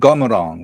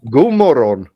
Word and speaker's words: God morgon: Hey, everyone, and Gomorong, right? Yeah, that's perfect pronounced. God morgon.